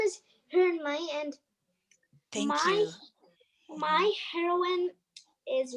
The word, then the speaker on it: Hermione: okay what about let's see uh what about hermany i'm sorry if i'm saying your name wrong tell me who are you thinking about for a hero or heroine well my name is hermione and my my heroine is wonder woman oh